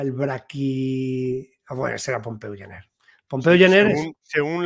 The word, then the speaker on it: Pompeu Gener: Además, a eso le tenemos que unir, que no se dice muchas veces, pues el libro, por ejemplo, de Pompeu Gener, que se pronuncia así, ¿no?